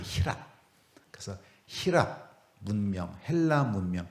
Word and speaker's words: 희랍: 다른 말로 헬라도 그럽니다 헬라 하는 말을 중국 사람들이 한자로 썼는데 그걸 우리 식으로 우리가 발음을 하면 그게 희랍이에요 희랍 그래서 희압 문명 헬라